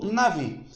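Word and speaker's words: נביא: Nabi ou navi. Por que é nabi? Porque essa letra aqui, que é o beit, que é essa letra do meio, ela pode ser tanto beit como vet, ou vet ou bet.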